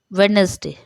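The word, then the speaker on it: Wednesday: For example वेडनेसडे, ठीक है, वेडनेसडे नहीं बोला जाता है क्योंकि डी ये जो है ये साइलेंट है।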